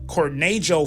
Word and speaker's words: Cornejo: Vanessa or beta Cornell Cornell is spelled c-o-r-n-e-j-o so I'm now it could be Cornejo too as well Cornejo so that may be the better way to pronounce that so I'm just saying